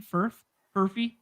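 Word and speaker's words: Furphy: They filmed him and Johnny Furf. Is that how you say his name? Furfy.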